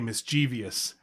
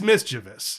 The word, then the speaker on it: mischievous: The other one that really annoys me is when people say mischievous. Oh. And that's just plain wrong. I mean, it's mischievous.